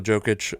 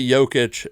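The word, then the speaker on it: Jokić: talking about uh Nicola jokic uh uh which by the way you say jokic and everyone else goes soft Jay you go softer or silent Jay yeah almost I'd have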